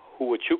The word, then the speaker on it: Huachuca: say it right and pronounced it right at pronounce it is who would chew cohesiveness this is an army intelligence base in